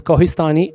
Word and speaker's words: Kohistani: My first name is but you can address me as and last name is Kohhistani. It is spelled as K O H I S T A N I N I.